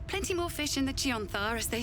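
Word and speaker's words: Chionthar: party a Miss plenty more fish in the chanthar as they say it's pronounced chanar don't tell him I was here just tell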